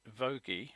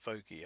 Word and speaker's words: Voge: four-cylinder bike, unveiled by Voge, I believe it's pronounced, I've been informed, in China, spelt, it looks Voge, but Voge apparently is the pronunciation.